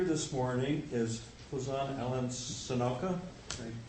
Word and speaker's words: Senauke: morning is Huzan Ellen sonoka I pronounce that right sonaki light Milwaukee sonak milc Alan is